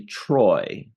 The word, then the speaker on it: Troi: Husk, and today we're doing a review of Star Trek The Next Generation, Season 3, Episode 24 already, Menage let me pronounce this correctly, Troi.